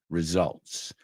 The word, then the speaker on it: results: La S es como una zeta, results.